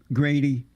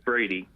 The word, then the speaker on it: Brady: How do you feel about black conservative, Grady? It's Brady. Brady, yeah, Brady. Oh, they have a G here for some reason. It's Brady, not.